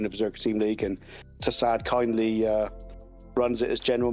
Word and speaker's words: Tassad: Do we pronounce it Tassad or Tassad? Or Tassad is correct.